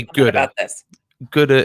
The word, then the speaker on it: Guddah: Guddah is my pronunciation. Gouda. Okay. Okay, so it's a mashup. Ooh, knocking things off the table. Simply, it's a mashup of my surname and Buddha, basically.